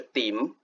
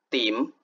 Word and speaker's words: 沉: 我们来看例子，比如下沉的沉读音是 dim dim，责任的任读音是 lim